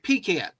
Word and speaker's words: pecan: Also, pecan pie. thank you. Thank you. Thank you. You're Canadian. I love you. Thank you. You say it right. Pecan.